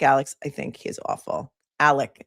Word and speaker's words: Alec: Alec. Well, it's spelled Alex. He calls himself Alec.